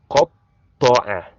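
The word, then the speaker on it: قطّع: But in this part, the ta here has shadda, so you have to double it. You have to pronounce the letter ta with severeness. So it will be qata'a, qata'a, qata'a.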